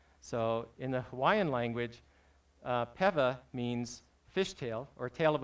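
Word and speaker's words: pewa: all and said that in the Hawaiian language, the W is pronounced as a V. So the correct pronunciation is Peva. I've heard Piva as well.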